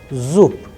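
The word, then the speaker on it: зуб: So, now we are going to discuss about the sound of be is changing into pe, zoop, zoop.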